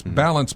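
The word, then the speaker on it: Ballance: what it's called balance it's balance but it's spelled with two L's So it's b a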